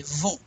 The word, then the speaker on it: vont: So usually you do not pronounce that T. T, you say vont. But we have a vowel here, so you're going to say vont écouter.